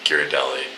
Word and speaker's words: Ghirardelli: Now we're going to, what is, how do you pronounce it? Ghirardelli.